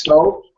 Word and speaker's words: stoves: Okay, Armando, stove becomes Stoves. stoves. You don't have to pronounce this E. In fact, not only do you not have to, you should not pronounce the E sound.